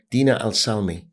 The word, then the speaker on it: Dina El Selmy: is a young Gladiator by the name of Dina Al salmi correct correct did I pronounce it right yes yes great welcome thank